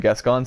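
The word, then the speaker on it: Gascoigne: like this set like guests cons I also learned that's how you say his name like guess gone set which we will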